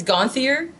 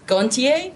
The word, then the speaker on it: Gonthier: name is um my last name is is pronounced differently depending on where you are in the world in America's it's gone theor in France is goin ta which is way better way better okay so